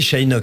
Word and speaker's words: Szejnok: Alors Sheinok, je redonne votre nom. C'est comme ça qu'on prononce. Oui, Sheinok, c'est ça. Voilà. SZ à la SZJ.